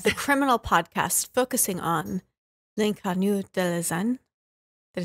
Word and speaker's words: L'Inconnu de la Seine: In an episode of the Criminal podcast focusing on L'Inconnu de la Seine.